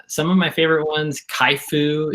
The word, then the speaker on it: CHIFOO: But yeah, some of my favorite ones, Kaifu is one for design, and that is spelled CHIFOO.